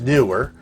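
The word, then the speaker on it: Neewer: new words and double e W er it's pronounced newer and they make good product and I've read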